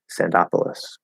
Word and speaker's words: Sandopolis: zone and i'm curious whether this made up word follows the same stress pattern as cities like minneapolis or indianapolis where the syllable before polos receives primary stress sandopolis yes pandopoulos um or